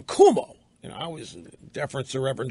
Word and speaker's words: Cuomo: Kind of like the way I never disrespect the Reverend Jackson for pronouncing Governor Cuomo's name Cuomo.